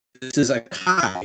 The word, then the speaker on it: chi: this is not an x this is a kai it's a greek letter it's not a chi